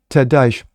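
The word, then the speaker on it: Ted Deutch: Ted Dash, if I'm pronouncing it sounds more like douche, but I'm not going to do that.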